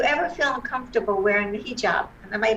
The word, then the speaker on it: hijab: students do you ever feel uncomfortable wearing the hijab am i pronouncing it correctly yes totally correct right i